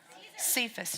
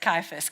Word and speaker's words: Caiaphas: he was Roman huh Cephas she said Cephas did you say it - Caiaphas give it to Eddie cuz he pronounced it right all right good so